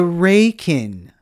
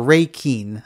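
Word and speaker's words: 礼金: So we're not even talking about the reikin or reikin. I'm pronouncing it wrong because I'm trying to say it in English and not in Japanese.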